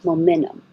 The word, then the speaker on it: momentum: momentum um this one you can say it without the T because of the situation the t is after the n in the unstressed syllable so if I kept the mo momentum momentum let's keep the